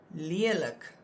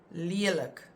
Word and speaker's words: lelik: These words that we're going to look at now, the examples, they have always been written with only one vowel, and you always pronounce them as a langklank.